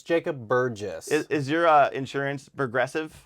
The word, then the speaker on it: Burgess: I want to hear this UGL right now Burress it's Jacob Burgess is is your uh Insurance Progressive yeah brogressive